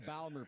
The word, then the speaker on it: Baltimore: Can you actually say it properly? The Baltimore Plot. The Balmer Plot. Yeah.